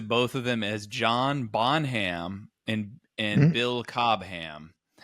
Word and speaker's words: Bonham: I mean people say it so fast that it's almost like B O N A without an H. Yeah. Yeah. Like Bonham.